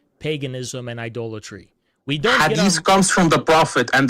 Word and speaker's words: hadith: Hadith. Hadith. It's not hadith. My bad. I just pronounce it hadith. Easier to pronounce. But I think it's hadith.